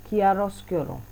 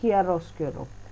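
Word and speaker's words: chiaroscuro: होते हैं ड्रॉस क्यूरो वैसे इसकी प्रोनंसिएशन होगी किया रोस केरो ठीक है मैंने तो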